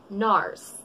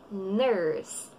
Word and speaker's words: nurse: know man fo Tagalog Norris Nourse in English we say nurse nurse nurse young you